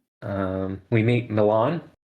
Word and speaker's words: Milan: Um, we meet Milan, who for now I shall pronounce like the city.